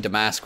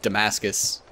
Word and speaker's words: Damascus: I've really been uh pronouncing demask wrong and definitely going with Damascus just very very look